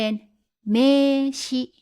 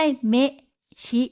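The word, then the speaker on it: めいし: เข้า ไป นะ คะ เวลา อ่าน ออก เสียง ก็ จะ เป็น เมชิ เมชิ ไม่ ใช่ เมะ ชิ นะ มี อิ อยู่ ต่อ ท้าย เมชิ ลาก เสียง ยาว แล้ว หมาย ถึง นาม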